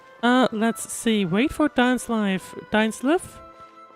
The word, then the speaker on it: Dainsleif: Dainsleif? They just pronounced it Dainsleif. I kept thinking he's pronounced Dainsleif, but I guess not. I guess not.